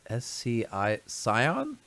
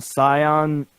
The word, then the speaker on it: Scion: Scion. Scion? Yeah, Scion.